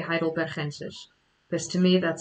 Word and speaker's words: heidelbergensis: Someone says that they really like the way I say Homo heidelbergensis, because I do say it in the Dutch way, heidelbergensis, because to me that sounds natural.